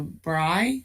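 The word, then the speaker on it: Brey: any conversations with richard bray b-r-e-y about the are you referring to bry b-r-i-g-h is that how it's pronounced bry i would say bray since that's in parentheses yeah oh you're oh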